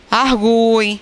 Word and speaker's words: argui: Argui, não é? Então, como eu separo aqui, qual é a vogal? O U é vogal e o I é semivogal.